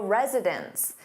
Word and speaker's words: residents: But, when you have an S on that noun, meaning more than one, it sounds exactly the same as residence, residence, which is a place where someone lives. So, the pronunciation is virtually identical when resident is in the plural form, and it sounds like residence.